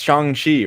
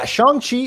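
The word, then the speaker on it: Shang-Chi: about this next title we've been pronouncing it wrong the entire time yeah it's shanghi right yeah i feel everyone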